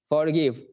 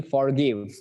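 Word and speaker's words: forgive: আমরা বলি ফরগিভ, ফরবেয়ার, ফরবিট, ফরসেক, ফরগেট। ঠিক আছে, তাহলে যেটাতে এফ ও আর থাকে সেটাকে উচ্চারণ করি আমরা ফর, আর যেটা এফ ও আর ই থাকে সেটাকে আমরা বলি হচ্ছে ফোর।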